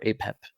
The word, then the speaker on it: Apep: to do with with Apous or Apep in the original pronunciation, uh, the giant crazy chaos serpent of um, of myth.